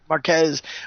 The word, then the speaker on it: Marquez: We got Civil War II, Brian Michael Bendis to write, and Dave Marquette, how do you say his last name? Marquez, doing art for the upcoming story arc due out in April 6, 2016.